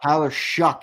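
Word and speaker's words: Tyler Shough: Tyler Shuck, it's pronounced.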